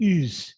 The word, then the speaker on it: Oz: celebrity he's turkish so his name is really ooze with the way it's spelled he's a muslim but